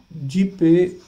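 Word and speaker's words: GPAI: partnership of artificial intelligence ji पाई जी पाई pronounced as जीप ठीक है तो जी पी ए आई है पी ए वाई नहीं है इंडिया इज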